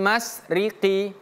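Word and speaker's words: المشرق: Rabbul masriqi. Bukan mas, tapi masy.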